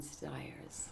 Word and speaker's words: Stiers: Oh, I was really excited to work with David Ogden Stiers. Did I say his name right? Stiers.